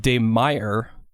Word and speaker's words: de Meyer: Now we've got another email from Robert August de Meyer. Rhymes with fire is what he says.